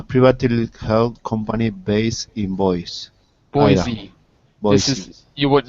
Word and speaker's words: Boise: simple company a privately held company based in boise boise boise is you would know that unless